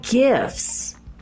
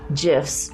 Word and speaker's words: gifts: I am entrusted with the gifts of God. And by the way, that's gifts, G-I-F-T-S, not GIFs, G-I-F-S.